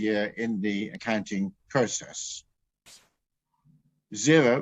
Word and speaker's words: Xero: in the accounting process xero which is spelled with an x is an excellent cloud-based